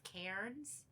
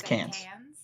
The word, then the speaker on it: Cairns: it looks like it's supposed to read as cairns but nobody pronounces ours in australia okay so it's cans so it's this it's this bar that snuck